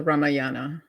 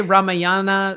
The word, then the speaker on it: Ramayana: Yeah, Uh, some say Ramayana, some say Ramayana. I said Ramayana for a long time, and then mhm. someone corrected me, like, "No, it's Ramayana. Ramayana." It's Okay. it's regional.